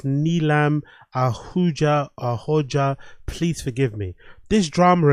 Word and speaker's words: Neelam Ahooja: Hopefully I pronounced it right. It's Neelam Ahooja.